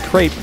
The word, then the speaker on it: crepe: cabbage still not a crepe though I know you're supposed to say CREP but that sounds weird to me I mean like how